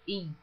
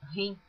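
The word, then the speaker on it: him: Tem pessoas que lê esta palavra in, que é H-I-M, pronuncia rim, como se estivesse falando em inglês. Eu pronuncio in porque a Bíblia, eu estou lendo toda ela em português. Por que ler esta palavra em inglês? Então, eu leio como está escrito.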